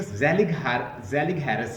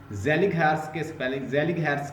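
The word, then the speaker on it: Zellig Harris: अच्छा, ये एक ज़ेलिग हैरिस है, इसने कॉइंड किया था वर्ड, लिख लें, डिस्कोर्स एनालिसिस का। ज़ेलिग हैरिस के स्पेलिंग है ZELLIG, ज़ेलिग हैरिस, HARRIS, ज़ेलिग हैरिस।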